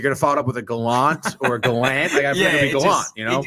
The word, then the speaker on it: Gallant: job gerard gallant um who actually prefers his name to be pronounced gallant um which is hilarious it